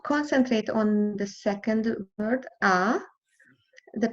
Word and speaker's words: ha: the I would concentrate on the second word ah the pronunciation had to remember the Italian never pronounce